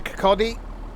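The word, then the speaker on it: Kirkcaldy: Remind me what uh so going to Kakotti. See I pronounced it right.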